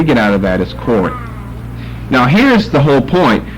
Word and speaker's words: Core: C-O-R-E, Core. Well, here's what the Greek is here. The short O, so it's not a long O. It ends with a short E and not a long E.